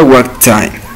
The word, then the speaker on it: what time: Para pronunciar esto correctamente tenemos la palabra what que termina en T y time también comienza en T. Aquí no vamos a pronunciar las dos T sino una sola porque de lo contrario te va a sonar como un robot, lo que se llama choppy.